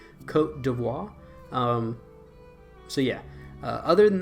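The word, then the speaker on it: Côte d'Ivoire: is Ivory Coast but I think the correct pronunciation is Cote d'Ivoire um so yeah other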